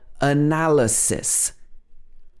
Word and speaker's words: analysis: we say supply sometimes the letter y can also be pronounced as a schwa for example analysis analysis so the a changes to uh and the why is also a analysis she works in business